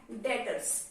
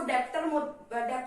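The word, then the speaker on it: debtors: आप इसको डेप्टर मत बोलना, ये डेप्टर नहीं है, इसको हम बोलते हैं डेटर्स। इसमें जो बी है वो क्या है? साइलेंट है, तो इसलिए हम इसको डेटर्स बोलते हैं।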